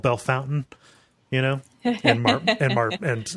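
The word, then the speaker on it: Bellefontaine: in central Ohio where something that is logically called belf fountaine is called Bell Fountain you know and and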